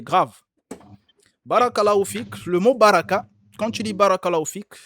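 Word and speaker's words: بركة: c'est ça en fait il faut faire attention beaucoup de gens ne savent pas prononcer ça ils écoutent tu écoutes Barak ma sœur c'est grave faut corriger les gens qui font ça c'est grave on ne dit pas on ne dit pas bar on dit bar faut tirer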